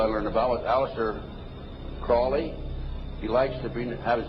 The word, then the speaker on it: Crowley: learned about was Alistair Crawley he likes to have his name pronounced Crowley to rhyme with holy and uh the Satanist